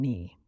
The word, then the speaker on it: knee: Sometimes a letter represents no sound at all, like the k in knee.